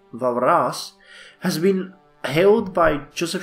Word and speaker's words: Walras: walrus the French economist I own Varis pronounced varas has been held by